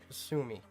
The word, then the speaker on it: Kasumi: Kasumi. That's how you pronounce her name.